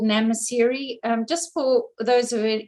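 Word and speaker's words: Nxamaseri: camp there is called namasiri um just for those of you who are interested uh you don't pronounce the x in that word just to help you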